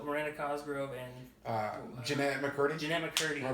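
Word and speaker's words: Jennette McCurdy: Jeanette McCurdy. Am I pronouncing that right?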